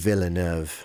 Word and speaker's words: Villeneuve: And also his name's harder to pronounce than his first name. Villeneuve.